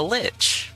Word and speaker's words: lich: Not lick, a lich.